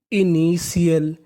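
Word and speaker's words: initial: यानी आपको कहीं पर टी आई ए एल लिखा मिले तो आपको उसका उच्चारण करना है सील चलिए प्रैक्टिस करते हैं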